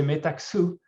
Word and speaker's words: Metaxu: that's an interesting one i think there is different pronunciation with i would say metaksu with like more more accent on the on the x um yeah me take